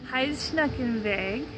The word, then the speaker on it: Heidschnuckenweg: about on the trail and how do you pronounce it hide hide snuck in vague yeah um and that's like a type of